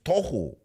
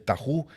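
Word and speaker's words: תהו: del tojo es más oía un maestro que enseñaba la serpiente del taho y la serpiente del baju estaba mal pronunciado pero porque no habla abreo el hermano ni habla inglés entonces decía el tahu y el baju Pero tenía razón venía del tojo y del bojo del desorden y la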